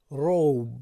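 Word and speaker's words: robe: مثلا تلفظ این راب نمیشد، روب میشود.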